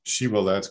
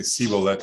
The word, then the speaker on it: shibboleth: And to figure out who's an Ephraimite, they have this thing where if they see someone and can't pronounce the word shibboleth correctly, and they say sibboleth instead, they kill him.